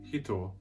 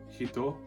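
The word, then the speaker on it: 人: means person in japanese by adding a smooth character between the he and the toe it will then become pronounced so do you hear it different and hitto means hit as in hit in japanese so can you hear the difference there's hito which is person and there's hitto you hear the difference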